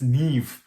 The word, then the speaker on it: Niamh: it was oh you know but apparently it's neve you know like i said so um h m or mh at the end for for gaelic is it's v so that's that's nev i'm not sure i'm actually not sure what